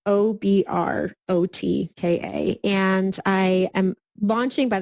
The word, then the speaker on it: Obrotka: It's Obrotka.